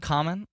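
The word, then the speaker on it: Kamen: My Bulgarian friend Common Volkovsky. Yes. Former trivia. Yeah. His name is spelled K-A-M-E-N. Anytime I reference him, people think I'm friends with the rapper Common.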